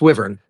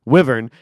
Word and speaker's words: Wyvern: How do you pronounce that correctly? It's Wyvern. Wyvern.